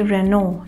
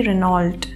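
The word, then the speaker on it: Renault: तो हमारा पहला ब्रांड है ये, और इसे हम कहेंगे रेनो, ना कि रेनॉल्ट। ठीक है, अगली बार अगर आप कोई गाड़ी देखें जिस पे ये लिखा हो तो गाइज इसे हम रेनो प्रोनाउंस करेंगे, ना कि रेनॉल्ट प्रोनाउंस करेंगे।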